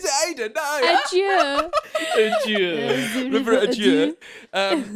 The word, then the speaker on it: Adur: Ada. River Ada. Is it Ada? No. Adieu. River Adieu. From the River Adieu, Ada for the Shoreham people, they say it wrong.